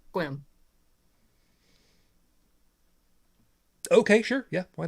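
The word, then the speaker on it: Sequim: kills me too because it's spelled s-e-q-u-i-m but it's swim okay sure yeah why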